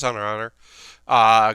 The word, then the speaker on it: Hunter x Hunter: The X is silent, and it's also not cross. This is Hunter x Hunter.